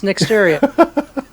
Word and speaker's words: Nixteria: It's Nixteria. It's just the way it looks, correct? Nixteria. No, I'm kidding. It's Nixteria.